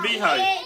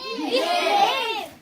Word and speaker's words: behave: What's beehive? Behave.